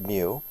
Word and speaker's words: mu: the lowercase m in the Greek alphabet it's pronounced mu and uh we use Greek letters when we're